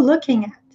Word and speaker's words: looking at: Como não se pronuncia o G, o som do N acaba emendando aqui com o A.